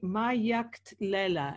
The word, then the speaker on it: Magadlela: Thomas Ani my act Leila is it right that's perfect thank you very